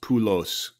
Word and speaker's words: Poulos: kid don't let him kid you people it's pronounced pulos I I I declared that in 2007 Greek